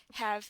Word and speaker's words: have: Tapi have is an exception because it's a short sound.